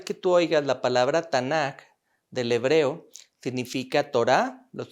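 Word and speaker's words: Tanakh: mis hermanos se pronuncia tanak se les agrega las dos a para poderlos pronunciar pero cada vez que tú oigas la palabra tanak del hebreo significa torá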